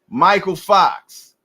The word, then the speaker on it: Mykal Fox: Michael Fox And I know that's how he pronounces that because he even put it in his Instagram showing you how to pronounce his name. Michael Fox is ready to take Serhii Bohachuk momentum away